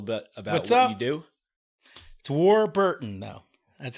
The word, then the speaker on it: Warburton: It's Warburton, though. That's how you pronounce it. Warburton. Warburton. Right. It's a tough name to pronounce. Just break it up into two words. War and Burton, like Richard Burton.